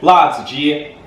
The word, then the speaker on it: 辣子: Today we're going to do la zi. That's how you say it in Chinese.